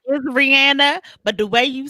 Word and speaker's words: Rihanna: That's how you're supposed to pronounce it. That's how you're supposed to say her name. Her name is Rihanna, but the way you said it though, ooh, child.